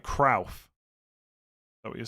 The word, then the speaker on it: Cruyff: The most famous mispronunciation of a name is Johan Cruyff. It is at OW as in cow, not oi as in boy. Like Krauf.